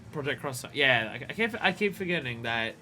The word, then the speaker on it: Project X Zone: It's pronounced Project Cross Zone. Oh right, yeah, right, yeah. Yeah, no, it's always cross in Japan, isn't it?